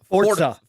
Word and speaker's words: Forza: And the other thing that's exciting about Forza is, sorry, I know I'm saying it wrong, everybody. I know Pong is too. It's Forza. Forza. Yes, I know how to pronounce it.